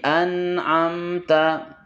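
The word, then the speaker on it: أنعمت: dibaca jelas tanpa memantulkannya anamta dua-duanya memiliki sifat bainiah yaitu tidak mengalir tidak kuat di antara keduanya jangan anamta tapi anamta anamta kemudian ta ketika diucapkan dia maka sifat hamsnya lemah jangan ta ta tapi ta anamta kemudian alaihim alaihim mim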